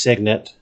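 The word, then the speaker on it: cygnet: try to pronounce it that one is pronounced signet and i am confident in that because the cygnus performing arts center that i used to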